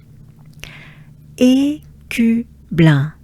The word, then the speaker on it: Écu blanc: go for it, and it starts with the sound E, and not I, right? E, Q. So again, the sound U. Your jaws drop down. U. And it's a small opening of the mouth. U. Q. Blanc. Un. Right? As a whole, together, ensemble. Good breath. Écu blanc. Écu blanc.